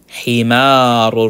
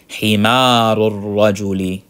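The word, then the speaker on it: حمار الرجل: Himarul rajuli. All right, we know this is shamsiya, so we don't say himarul. La, you're not pronouncing that lam. Himarul rajuli, baytu hamidin, and so on and so forth.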